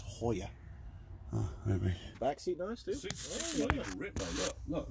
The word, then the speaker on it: Joya: on both sides yeah but in Spanish it's the JS H so it's Hoya back seat nice dude